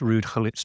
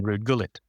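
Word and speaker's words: Ruud Gullit: Um you'd got people like Desham, for example, on the BBC uh refusing to pronounce Rude Hulit's name correctly because he was a foreign, so he called him Rude Gullet.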